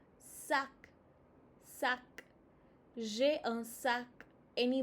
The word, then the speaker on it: sac: sac uh Open your mouth more. sac sac J'ai un sac.